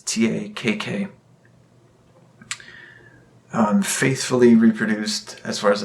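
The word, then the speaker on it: Takk...: I believe the album is pronounced Tak. It's Takk.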